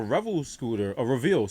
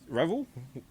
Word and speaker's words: Revel: I've been pronouncing it wrong. And she Oh, didn't it's have Reveal? a helmet. Yeah, it's Reveal. I Isn't it go with spelled Revel. Revel? Yeah, is it Reveal? It's Revel.